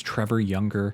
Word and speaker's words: Trevor Younger: So my name is Trevor Younger. That is how you pronounce it.